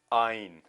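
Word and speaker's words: yne: अब यहां पर आप देखोगे आइन चाहे वाई से शुरू हो पर प्रोनाउंसिएशन इसकी हम करते हैं आइन, यानी कि वॉवल साउंड है, जरूर है, वॉवल नहीं है वाई पर साउंड इसकी वॉवल के जैसी है।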